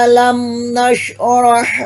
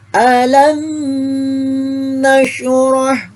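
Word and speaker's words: ألم نشرح: forever Hum fiihaa hai alamnasroh lakasodrok Hai alam yaj'al kaidahum FII o'neil jadi home Alam Alam Nasroh Jangan dibaca alam nasyroh enak tapi keliru bacanya yang dibaca alaikum aba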